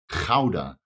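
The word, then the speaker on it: Gouda: which I do know that rats love their GAA cheese and it's pronounced Kaa by the way in Holland not GAA but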